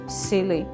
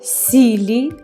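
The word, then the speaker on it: silly: просто про людину кажемо силий дурний якийсь Дурна якась так сили і тут у нас блондинка з силіконовими губами що може бути краще сили силікон Оскільки ми не вимовляємо сілі а трішечки до е Сили сили нам силікон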